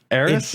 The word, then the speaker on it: Aerith: It's Aerith. It kind of just sounds like a lisp.